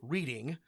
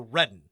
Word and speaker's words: Reading: So a word that looks like reading is pronounced Reading or Redden if you are a Pennsylvania Dutch local.